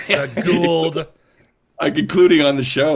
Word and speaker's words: Goa'uld: I've been trying to say Goa'uld properly for forever, and I still can't say it right. So it's just, Goa'uld is technically, but everyone messes with it.